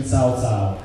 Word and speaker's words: Cao Cao: I'm Cao Cao, Chinese pronunciation Cao Cao.